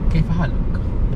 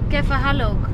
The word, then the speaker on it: كيف حالك: Kaifa halak. Kaifa halak. Yeah. كيف حالك؟